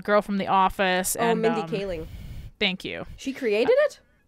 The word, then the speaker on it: Mindy Kaling: uh oh my God mendicily no that's not how you say it at all I am my brain not working the girl from the office and Mindy Kaling thank you she created